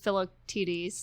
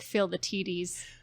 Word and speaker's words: Philoctetes: Like Phil is Philoctetes. Philoctetes. But they kind of say it like Phil the Tetes, well, and speaking of Phil the Tetes, which I think was specific.